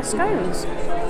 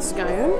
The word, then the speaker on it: scone: Have a bit of a rest and then I'll have one of my scones while they're still warm. So let's try the plain scone, or scone, however you want to pronounce it.